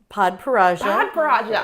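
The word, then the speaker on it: Padparadscha: Podparaja.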